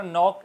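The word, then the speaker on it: knee: Now next word is नी, घुटना। नी के अंदर भी के साइलेंट, NEE, नी बोला जा रहा है।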